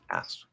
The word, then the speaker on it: asked: be the same thing, asked, masked. Okay, no problem. So it's going to sound exactly like this, asked.